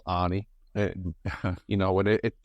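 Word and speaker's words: Arne: how his names pronounced people are kind of saying Anna instead of Anie and and schlot instead of slot it's going to be Annie slot isn't it I mean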